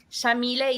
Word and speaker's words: Yamile: he named me so chamille is an arabic name pronounced with an argent an axe and we say the y like an sh and then is